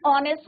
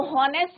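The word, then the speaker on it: honest: लिखेंगे, एन आर, एन ऑनेस्ट मैन, एन ऑनेस्ट boy, clear. तो हॉनेस्ट नहीं होता बच्चों, एच साइलेंट रहता है, हावर नहीं होता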